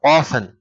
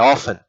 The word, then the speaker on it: often: Então, often é assim que se pronuncia. Often. Não é often. Não é assim que se pronuncia. É often.